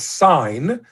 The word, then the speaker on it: sign: Although you know that you don't pronounce it but if you don't put the G you would actually lose the link to signal.